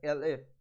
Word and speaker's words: elif: For else if we'll write elif, this is pronounced as elif, number is equal to 20.